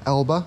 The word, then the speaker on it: Elba: We're on the island of Elba, or Ilba, I think is how you say it, in Italy, on the